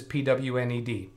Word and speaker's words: pwned: com that's spelled opponent is pwned as in owned think of an o there pond is there is yeah